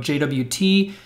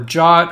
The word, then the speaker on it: JWT: you've probably learned about jwt or jot however you want to pronounce it for being able to